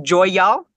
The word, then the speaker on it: Joy'All: since on the line it's called is it pronounced Joy y'all you got it so I'm taking that title